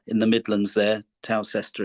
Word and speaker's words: Towcester: But luckily, perhaps, we moved to a town when I was about 9 called Towcester in the Midlands there. Towcester, it's spelt, a lovely little Roman town on the A5.